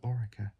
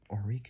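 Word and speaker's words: ORECA: So Ora or Ora whatever you want to call it is spelled it's spelled O R E uh C A.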